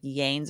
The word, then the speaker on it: Lanez: thank you so much Tory Lanez pronounced pronunciation Lanes okay so that's that's that that was my instinct but I wasn't sure if that was correct thank you for for